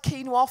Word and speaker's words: quinoa: holiday it wasn't the girl who always had quinoa for lunch I'm so glad to pronounce that properly I do love a bit